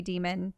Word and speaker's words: daemon: is increased it's so weird saying daemon even though I know it could also be demon mm-hmm I just don't know maybe we should do some research on this I think it can be pronounced either way your bond with them